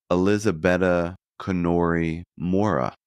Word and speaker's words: Elisabetta Canori Mora: But who is Elisabetta Canori Mora? Mora. Elisabetta Canori Mora. That would be the more Italian pronunciation.